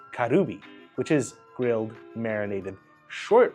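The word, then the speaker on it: カルビ: Now, my favorite places specialize in kali or pronounced karubi, which is grilled marinated short ribs marinated in a soy sauce.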